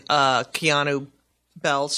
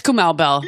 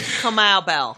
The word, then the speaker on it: Kamau Bell: Yes, because I watched you on Keanu Bell's show. Yes. Are you really a football fan? That's Kamau Bell. Kamau Bell.